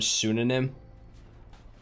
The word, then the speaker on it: pseudonym: Like you think of the word pseudonym. Who would think it would start with a P?